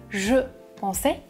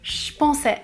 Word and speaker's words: je pensais: Il ne prononce pas je pensais, il prononce je pensais avec le son ch.